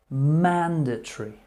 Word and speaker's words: mandatory: a fire escape jamming mandatory mandatory or some people say mandatory mandatory in general conversation people will just say mandatory mandatory mandir truth rather than saying mandatory so we're looking at three syllables in general conversation mandatory banditry